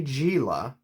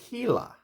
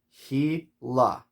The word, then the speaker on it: Gila: language probably spanish and i know in spanish you pronounce the g's like like an h gila okay the gila monster and we got this little pronunciation guide right here he la he la so the